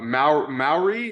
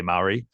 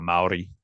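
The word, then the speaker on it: Māori: like most people say Maori um because that's how it looks but it's actually like it's got like a rolling R it's like a Maori Maori I can't remember my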